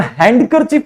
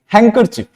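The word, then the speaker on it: handkerchief: word हैंड कर चफ इसको हम हैंड करर चफ नहीं पढ़ते हम क्या पढ़ते हैं हैंकर चिप डी is silent here एक और वर्ड है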